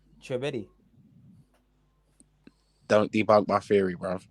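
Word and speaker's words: Tchouaméni: young boy that no one knows how to pronounce his name. Chouameni. Don't debunk my theory, bro. Just pronounce his name properly there and then. Yeah, him. Who? Say it again, OTC. Chouameni.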